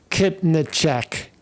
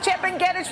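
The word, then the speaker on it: Chepngetich: So this is let's jump right to the Ruth Kipnichek. Kipnichis, I don't know how to say her name. You got it, Carrie. Here is going to be our champion, Ruth Chepengedich.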